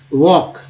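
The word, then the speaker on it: walk: वॉक है ना, वॉक में क्या है, एल साइलेंट है।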